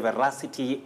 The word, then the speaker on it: veracity: The veracity of a claim. Right. So it's not veracity or veracity. You say veracity with a stress on the second syllable, Betty.